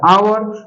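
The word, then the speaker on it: hour: एच यहाँ पर silent हो जाता है, क्योंकि एच के बाद जब भी वावेल आता है तो एच वहां क्या होता है? साइलेंट होता है, ठीक है प्यारे बच्चे।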